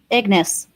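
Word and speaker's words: Ignace: Ignance. How do you Elena? How do you pronounce that? She would know. She's the pronunciation queen. Um sorry, what are you trying to pronounce? Ignis. Ignis. Ignis. Okay, perfect.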